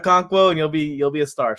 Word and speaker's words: Okonkwo: We don't know how to pronounce the guy's name. Okonkwo. That's his name, Okonkwo.